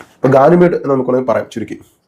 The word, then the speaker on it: Ganymede: ഇപ്പോഴാണ് കിട്ടിയത് പെർഫ്യൂം ഇതാണ് ഇതിന്റെ പേര് പലരും തെറ്റിച്ചാണ് ഉച്ചരിക്കുന്നത് യഥാർത്ഥത്തിൽ ഇതിന്റെ പേര് മാർക്ക് ആന്ദ്വാൻ ബാർവ ഗാനിമേഡ് എന്നാണ് പെർഫ്യൂമിന്റെ ഫ്രഞ്ച് ഉച്ചാരണ ശൈലിയിൽ പ്രൊനൗൺസ് ചെയ്യേണ്ടത് ഗാനിമേഡ് എന്ന് നമുക്ക് വേണെങ്കിൽ പറയാം